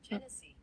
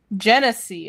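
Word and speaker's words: Genasi: I spelled pronunciation wrong. I see. Jennese. Genese.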